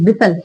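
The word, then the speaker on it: whistle: हैं हम क्या है विसल विसल विसल मी्स होता है सीखी में जाना टी इसमें साइलेंट है ओके विल इसमें टी क्या है साइलेंट है तो विसल विसल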